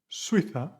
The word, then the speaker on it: Suiza: Now, the next word will be tres, Suiza, suena como cero.